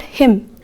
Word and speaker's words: hymn: Then in the word hymn, here N is silent children.